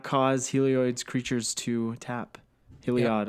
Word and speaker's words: Heliod: Heliod. I don't. I say it like oid. I gotta stop doing that. Helioid.